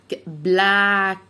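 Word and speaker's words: black: بلاك يبقى لما يكون في 2 كه ورا بعضهم انطقهم كانهم كه واحده.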